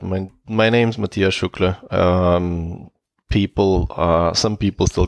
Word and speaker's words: Matija Šuklje: having a guest called Matija Šuklje. I hope I pronounced that correctly. It was close enough. You could just drop the J. So Matija Šuklje is how you probably pronounce it.